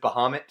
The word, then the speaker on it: Bahamut: Also, I pronounce it Bahamut. I pronounce it correctly.